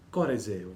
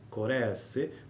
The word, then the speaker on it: corresse: Correse, voce del verbo correre, si pronuncia con la E chiusa, corresse, voce del verbo corrigere, si pronuncia con la E aperta, E.